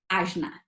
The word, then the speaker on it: ajna: And we call this energy center ajna, okay? It's spelled A-J-N as in Nancy, A, ajna.